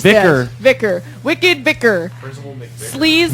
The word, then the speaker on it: VYKKR: It's VYKKR. You pronounce Vicar.